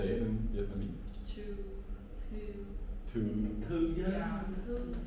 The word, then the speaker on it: Thư: Because my name in Vietnamese is hard for you to pronounce. Say it in Vietnamese. Thư. Yeah. Thư.